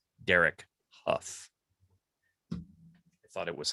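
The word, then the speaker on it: Derek Hough: old when i learned how to pronounce correctly pronounced derek huff i thought it was how it is not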